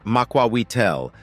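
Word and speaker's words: macuahuitl: from any steel sword the makael pronounced Maka weel was a rectangular or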